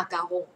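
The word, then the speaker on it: macaron: ก็ ไม่ ได้ พูด คน ฝรั่งเศส ก็ ไม่ ได้ เรียก ว่า มากอง เ เรียก ว่า มา กาฮง มา กาฮง นะ คะ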